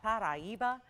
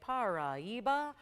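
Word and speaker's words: Paraíba: If you're thinking, isn't that Paraiba? Or some people say Paraiba. It's, again, however you pronounce it, it's Paraiba. And it is that Brazilian state, so with a little bit of a Portuguese accent to say it properly.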